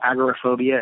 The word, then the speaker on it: agoraphobia: in open spaces, which some people will call agoraphobia and others will call agoraphobia. Agoraphobia is the older, more traditional pronunciation, and agoraphobia is relatively newer as far as English pronunciations go.